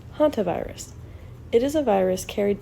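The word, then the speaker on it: hantavirus: "What is hunchenus?" asked Larry. "So close, Larry." "It is pronounced haunt virus.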